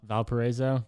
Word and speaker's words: Valparaiso: university so what's the official way how to pronounce that valparaiso valparaiso yeah it wasn't too terrible they called it